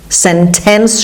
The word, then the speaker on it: sentence: یکی sentence که خب American speaker ها اون تی وسط رو معمولا نمیخونن. sentence شاید نخونید ولی اگه هم بخونید غلط نیست.